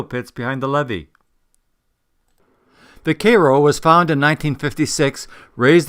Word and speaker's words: Cairo: USS Koo I would pronounce the name as Cairo but the correct pronunciation is apparently Koo the USS Koo was one of seven Ironclad